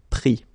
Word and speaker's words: pris: Same thing here, final S not pronounced, so prendre, pris.